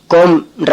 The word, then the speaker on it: comb: அதே போல COMB கோம்ன்ற வார்த்தையில B சைலண்ட், கோம்னு உச்சரிக்கணும்.